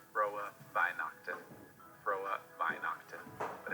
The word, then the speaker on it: Frohe Weihnachten: Frohe Weihnachten is how you say Merry Christmas in German. If you wanted to make this easier for yourself as an American, you could say Frohe Weihnachten, but that would not be correct. That would be with an ugly American accent. So if you really want to get it down, learn how to say the German R's, which are Frohe Weihnachten, Frohe Weihnachten.